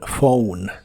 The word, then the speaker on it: phone: Y las letras PH cuando están juntas en inglés casi siempre se pronuncian como F, como en phone.